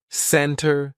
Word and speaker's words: center: Usually, if the T comes after an N, we drop that T and we do not pronounce it. Center, center. No, it's not center. It's almost like we're spelling it C-E-N-N-E-R, center. I'll meet you in the center of town, not center.